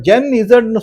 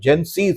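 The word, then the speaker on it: Gen Z: சார் அது ஜென் சி சார். அங்க சி letter சி இருக்கா இல்ல இசட் இருக்கா? அவங்க அந்த மாதிரி ப்ரொனவுன்ஸ் பண்றாங்க, ஜென் சி அப்படின்னு ப்ரொனவுன்ஸ் பண்றாங்க. ஆனால் அது ஜென் இசட் தான்.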